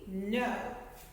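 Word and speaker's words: know: before i do okay that k is silent so this word is actually no new knit like you're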